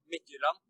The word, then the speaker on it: Midtjylland: So in Danish, it will probably be Midtjylland, but yeah, close enough.